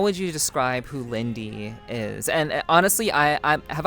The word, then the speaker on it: Liindy: So, if you had to describe yourself to someone who didn't know who you are, um how would you describe who Lindy is?